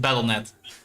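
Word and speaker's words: Battle.net: Battleet is uh Battleet. Sorry, that was Yeah, you you pronounce it battleet.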